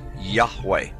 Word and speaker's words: Yahweh: Today, Yud He Wah He is most often rendered as Yahweh when written or spoken by Christians and others. It is still never pronounced aloud by Orthodox Jews.